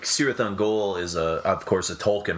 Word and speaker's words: Cirith Ungol: Cirith Ungol, I think, is how you pronounce it. And Wagner and sounds a little more uppity when he did the heavy metal. It's just Cirith Ungol.